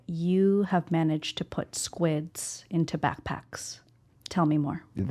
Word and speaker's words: SQUID: It's a squid. SQID. SQ, they like squeeze the U in there and then ID.